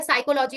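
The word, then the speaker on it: psychology: Greek से ये चीज लिया गया है कि जब भी शुरुआत में आएगा तो उसका हम उच्चारण नहीं करेंगे। जैसे कि ये क्या हो गया? साइकोलॉजी हो गया।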